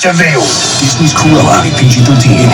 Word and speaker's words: Vil: It's spelled devil, but it's pronounced Vil.